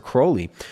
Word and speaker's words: Crowley: Also in 1914, Alistister Crowley rhymes with holy.